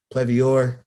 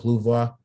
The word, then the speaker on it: Plouvoir: And you can look them up on Instagram, Plevior. That's what it looks like. Plevior on Instagram. But the way you pronounce it is called Plouvoir.